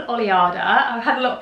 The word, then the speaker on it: Oleada: the label is called oliada i've had a lot of people ask me how to pronounce it so you pronounce it just like that oliada it's actually taken from the spanish word for wave so the reason that